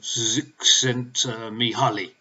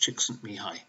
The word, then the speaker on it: Csikszentmihalyi: to pronounce that name the one that spelt sent me Holly well it's actually pronounced it's Hungarian is pronounced Csikszentmihalyi he suggests that each of us is born